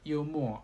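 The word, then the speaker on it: 幽默: All right, humor and yumo are really alike in pronunciations.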